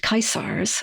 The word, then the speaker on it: Caesar: and actually they're the they would have been pronounced kaisar of Rome huh I didn't know